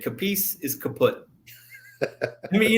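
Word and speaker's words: Capece: kicker bill capis I I think it's spelled I mean pronounced capis Florida State guy he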